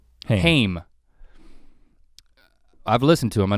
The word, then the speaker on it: Haim: But if you listen to the first, I actually don't know, is it Haim or Haim. How do you say their name? Haim.